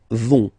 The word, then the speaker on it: vont: And the last persons, ils, elles, vont. Ils vont, elles vont. Okay, remember, final T not pronounced, so you get this O-N nasal here. On, vont.